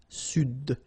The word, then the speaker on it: Sud: Here you should pronounce the D. Sud.